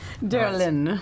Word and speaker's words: Darylin: Don't spell it out for Oh, him. Y sounds cooler. Get it. Go fly. Get it. Derlin.